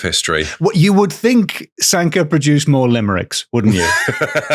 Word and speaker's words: Sanquhar: So it's pronounced Sanka, but it's spelt like Farquhar.